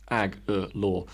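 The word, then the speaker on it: Agholor: would mention to me it even says on that patriot's own website pronounced ag law uh just in case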